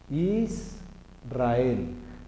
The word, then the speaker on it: Israel: Israel. Israel. Es la forma adecuada de pronunciarlo.